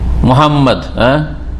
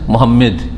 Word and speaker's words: মুহাম্মদ: আমাদের দেশের নামে এত বিকৃতি আছে তার এটা মোহাম্মদ হয় মোহাম্মদ দেশী মেম আর না হলে নন মুসলিমদের কাছে কাফেরদের কাছে মোহাম্মদ প্রফেট মোহাম্মেদ মোহাম্মদ নয় বললাম মুহাম্মদ মুহাম্মাদুর রাসুলুল্লাহ